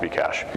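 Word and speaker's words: Bcash: you had be cash it's pronounced be cash yeah Bitcoin and be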